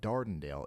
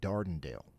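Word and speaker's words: Dardanelle: So, yot just pronounced all of that wrong. It's not Sidelia. It's more like Sidelia. And it's not Dardenale. It's a little bit more like Dondale.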